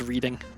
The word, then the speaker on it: Reading: confuses everyone else yeah reading being pronounced as reading I went uh so